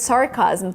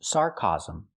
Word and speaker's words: sarcasm: The word is not pronounced sarcasm. Sarcasm? She means sarcasm. We need the short ass sound like black cat for the second syllable. Chasm. Remember, this word has 3 syllables.